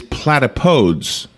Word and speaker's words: platypodes: The Greek origin of the word platypus means that the correct plural is platypodes.